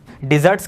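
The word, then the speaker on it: dessert: डिज़र्ट्स क्या हो जाएगा, मिठाई, और डेजर्ट क्या हो जाएगा, रेगिस्तान। प्रोनाउंसिएशन का ध्यान रखना, डिज़र्ट और डेजर्ट, डेजर्ट मतलब रेगिस्तान और डिज़र्ट क्या हो जाएगा, मिठाई।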